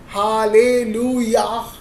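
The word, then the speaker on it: הללויה: that's why when I am when we से हालेलुया that high is silent तो हम लोग यहां पर क्या देख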